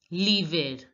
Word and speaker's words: l'hiver: Juste après l'hiver. Generally in French, if er is at the end of the word, we pronounce it as ay. But here we are going to pronounce it as l'hiver, l'hiver.